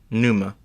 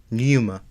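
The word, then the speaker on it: Pneuma: happening the p is the p is completely silent Numa I know thatp is silent but I want to say it because it helps me pronounce things Numa I do like this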